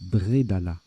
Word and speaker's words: bredala: ça fait vingt points alors pardon ça se prononce bredalas bredalas reliquat de lettres luxembourg et uruguay on